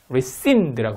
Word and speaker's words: rescind: rescind라고 발음하면 됩니다.